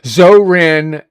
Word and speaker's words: Zohran: Zoran Mandamit. That's how his how his name is said.